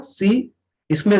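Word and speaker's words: science: आपका जो साइंस word होता है, साइंस में सी साइलेंस है।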